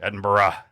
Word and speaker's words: Edinburgh: I um we were in uh Edinburgh Scotland Edinburgh you got to say it right Edinburgh Scotland